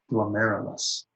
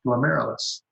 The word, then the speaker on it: glomerulus: they're spelled like this, or we pronounce it like this, glomerulus. Okay? So if you're at home and you're not too embarrassed to do this in your own room, say glomerulus, glomerulus.